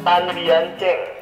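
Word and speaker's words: Tan Bian Tjeng: Kita ke Juragan Tan Bian Cheng. Tan? Ejaannya T-A-N. Ya. B-I-A-N. B-I-A-N. T-J-E-N-G. T-J-E-N-G. Tan Bian Cheng.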